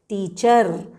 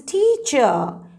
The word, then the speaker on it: teacher: teacher she's a teacher remember the r is silent don't pronounce it as teacher or doctor say i'm a doctor she's a teacher he's an engineer they